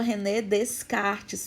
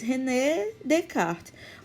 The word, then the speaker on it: René Descartes: né todo mundo fala rené descartes porque escreve escreve dessa forma mas é uma pronúncia em francês rené de cá o s ele não é pronunciado tá então por favor